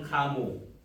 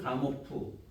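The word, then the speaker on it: Gamow: 빅뱅 우주론 가모 혹은 가모프. 발음하기 나름이니까 가모나 가모프 똑같은 사람입니다.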